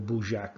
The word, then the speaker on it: Budjak: So the southern part of Odessa, the Odessa region, not the city, the region shown here is called Budjak or Budjak. There's different pronunciations, but the Budjak area of the Odessa region, not the city.